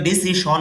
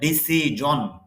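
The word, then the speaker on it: decision: যদিও ডিসিশন বলি কিন্তু উচ্চারণটা হবে ডিসিজনন।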